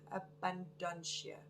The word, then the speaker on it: Abundantia: Now, you pronounce her name Abundantia. Abundantia.